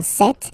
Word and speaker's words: cette: Se, or then set, feminine set. So you can notice that phonetically these two are pronounced the same way.